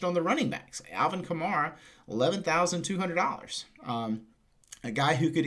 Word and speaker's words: Kamara: Was Alvin Kamara, and Jeff has gotten on me about the way we pronounce Kamara. Apparently it's Kamara.